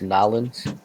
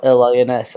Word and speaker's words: New Orleans: Land of the land of the dead, New Orleans. Yes. Yeah, there's a lot of Was it dead not? history there. It's actually pronounced Nolans.